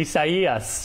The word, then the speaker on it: Isaias: CBS 4 meteorologist Craig Setzer is tracking it for us, and we're all practicing the name Isaias, right, Craig? Exactly, Isaias, with the emphasis on the second E.